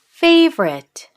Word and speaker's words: favorite: But when we say it, what does it sound like? How many syllables are there? Favorite. 2 syllables. Favorite. Favorite. There's no O.